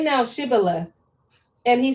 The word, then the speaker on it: Shibboleth: Say now, Shibboleth. And he said, Oh, Sibboleth. For he could not frame to pronounce it right.